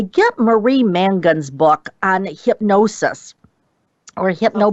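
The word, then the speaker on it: Mongan: also say get Marie mangan's book on hypnosis or hypn birthing yeah um it's Marie Mangan I'm sorry I mispronounced her name it's m o n g an again I know with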